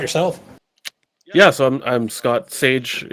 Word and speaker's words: Saej: Saej is like the spice is how you pronounce it.